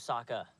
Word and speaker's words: Saka: hurt you you lost my name's Saka rhymes with AA and waka waka she looks very brave